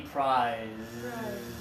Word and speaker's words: prize: This is the prize.